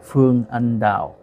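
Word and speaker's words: Phương Anh Đào: in many movies, but her name is Phương Anh Dao. That's the Vietnamese pronunciation, and I have a quick photo here of how she looks like.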